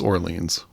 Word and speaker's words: Orleans: wondered is it Orleans from hearing band members pronounce the band name it's Orleans but yeah I got to say it's funny